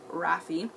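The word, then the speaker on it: Raffe: Rafi which I thought at first it was Raph but then I was skimming through certain parts of the book but it does mention that it's pronounced Rafi he gets his wings cut off he's basically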